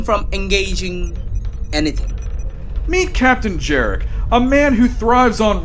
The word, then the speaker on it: Jarek: Their journey is interrupted once again by a transmission from the Grand Empress of Cgraphy, Captain Yoric. Actually, your grandness, it's pronounced Captain Jerick.